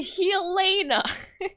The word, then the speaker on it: Helena: It's pronounced how now brown cowna. It's actually Helena.